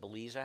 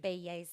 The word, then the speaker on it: Baeza: Is there any chance that Beliza has some speed? Baeza, I Baeza? believe. Yes, is how it's said.